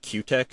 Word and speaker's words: Cutek: And one other finish that kind of it's been one that I've wanted to try is called Q-Tech, and that's spelled Cutek, and it was developed